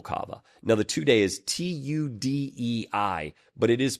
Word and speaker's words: tudei: So, the two types of kava are called tudei Mhm. and noble kava. Now, the tudei is t u d e i, but it is pronounced like tudei, right?